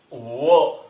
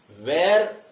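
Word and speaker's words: were: एम, इज, आर, वॉज, वो। इसका pronunciation आपको देखना है। इसका प्रोनाउंसिएशन है वो। वेर, काफी बार इसे गलत तरीके से कहा जाता है। ये वेर नहीं होता है, इट्स प्रोनाउंसिएशन इज वो सिंपली।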